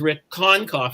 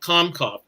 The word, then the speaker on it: Konkoff: own name and so i want to make it clear to all you that my name is rick concough and not comcog apparently i said this